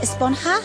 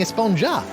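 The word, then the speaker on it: Esponja: about huh it's pronounced espanha with an h sound at the end really but we've all been saying a sponge up yes i know it's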